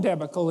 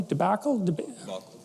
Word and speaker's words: debacle: there's the student loan debical in the united states if that's pronounced properly debacle debacle okay obviously i've read that word more than said it and so you know